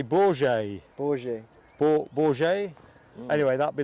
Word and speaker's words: Bourget: Bouget, I think you pronounce it. I think Rab coached me to say Bourget.